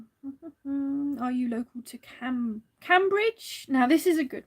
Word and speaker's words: Cambridge: is a good one is it cambridge or cambridge because there's cambridge which is um where's that is that towards london or something that way and then there's cambridge which is spelt the same but i call it cambridge which is near slim bridge in gloucestershire and the